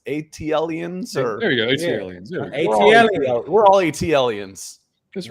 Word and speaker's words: ATLiens: all you know how do you say it atlion's ATLiens we're all ATLiens that's right yeah no and